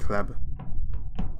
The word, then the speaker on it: C.Hleb: This is how you pronounce it, C.Hleb.